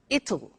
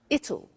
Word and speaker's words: it'll: tomorrow it'll be cold you notice how it will becomes it'll it'll strange pronunciation yes so